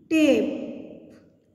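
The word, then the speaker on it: tape: टी ए पी ई टेप, इसमें ई silent है।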